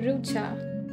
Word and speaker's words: Rucha: welcome everybody yes um to pronounce my name it's rucha it's not that difficult only two syllables hello doctor hello